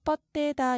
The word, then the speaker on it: 뻗대다: 디귿 뒤에 디귿, 받침 디귿 뒤에 이어지는 디귿을 된소리로 바꾸어서 뻗대다 이렇게 말합니다.